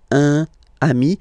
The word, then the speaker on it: un ami: Okay, un ami, and then we tend to make this little link between the two. Un ami, un ami.